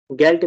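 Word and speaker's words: Geld: डा ही प्रोनाउंस करेंगे, लेकिन अगर किसी वर्ड के एंड में है तब हम उसको डी को डिवाइस करके टी की तरह प्रोनाउंस करेंगे, ठीक है, गेल्ट, ओंट, ठीक है।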